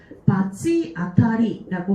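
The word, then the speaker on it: 罰当たり: 그래서 원래는 기본적으로는 바츠라고 읽는 게 맞는데 이 바찌라고 읽는 경우가 딱 하나 있어요. 바찌아타리 요것만 보시면 돼요.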